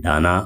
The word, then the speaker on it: Dana: जा सकता है और इसका प्रोनाउंस कई लोग कर रहे हैं डाना और ये लगभग मैं आपको बताऊ तो इसकी स्पेलिंग वि से डी ए एन ए ये स्पेलिंग है तो इसमें दाना भी बनता है और डाना में बनता है दोनों नाम बनते हैं तो यह चक्रवाती